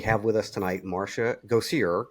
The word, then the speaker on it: Gosier: So we have with us tonight Marsha Gosier, correct? Yes, correct. Go see her.